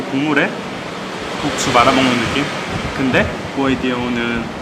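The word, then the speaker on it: ก๋วยเตี๋ยว: 꾸에이띠오는 이렇게 쓰는데, 이 십자 표기가 있으면 태국어로 사성으로 발음하라는 거예요. 중국어 삼성과 비슷하게 이렇게요.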